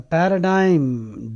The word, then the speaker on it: paradigm: the words there a paradigm the g is silent Paradigm means a pattern